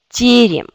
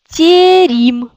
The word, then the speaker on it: терем: Tout d'abord, on regarde quelle syllabe est accentuée. C'est yé. Cette syllabe est accentuée, cela veut dire cette yé, il reste yé. Yé. Il y a d'autres yé, deuxième, yé, mais comme elle n'est pas accentuée, on le prononce comme i. Donc, ça devient tierim.